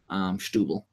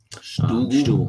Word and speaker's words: Setúbal: Stubel. That's how you say it. Stubel.